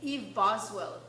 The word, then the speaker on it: Eve Boswell: So you have, So who is, I don't even know if I'm pronouncing it right because I've never heard of him before. Who is Eve Boswell?